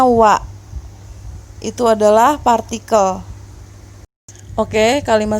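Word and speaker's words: は: Kalau kalian cari di daftar huruf hiragana, maka dia berbunyi ha. Kalau dia berada di dalam satu kata, maka dia tetap dibaca ha. Namun kalau menjadi partikel seperti ini, sendirian, berdiri sendiri, maka dia dibacanya wa.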